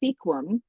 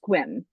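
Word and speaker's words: Sequim: are but the town next to us is Squim. Um which if you are looking trying to pronounce it the way that is it's Sequum but it's pronounced Squim.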